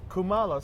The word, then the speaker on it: Kumalo: And how do you pronounce your last name? I want to be Kumalo. Kumalo. So I've Yeah. been saying it kind of right. Yeah, Kumalo, you've been saying it right.